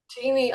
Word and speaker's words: Teeny: Is it teeny or tiny? Let's get it straight. Teeny. It's teeny.